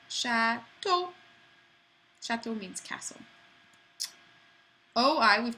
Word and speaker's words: chateau: The letter combination E-A-U and A-U makes an O sound. So this is chateau.